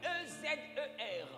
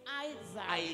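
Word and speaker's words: עזר: Ça s'écrit E-Z-E-R. It's A-Z-E-R. Tu peux être tenté de dire Ezer. You might be tempted to say Ezer. Mais ça Ezer. Se prononce A-E. It's Isaiah. Isaiah.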